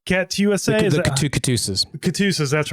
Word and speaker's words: KATUSA: Katusas, that's right. I knew there was a way to pronounce that properly.